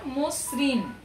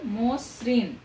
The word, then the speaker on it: মসৃণ: এর মতো হবে যেমন মসৃণ এখানে মসৃণ তোমরা জানো এখানে মূর্ধন্য ণ শুধুমাত্র লিখিত রূপ আছে কিন্তু তার উচ্চারিত রূপ নাই যেখানে মূর্ধন্য ণ আছে